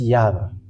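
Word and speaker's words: יהוה: first y he and that's how we read it it's here how we read it this yava let's okay let's uh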